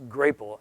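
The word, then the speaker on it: Grapple: at their site and they actually want you to pronounce it grateful seems ridiculous but they say it's grateful and a lot of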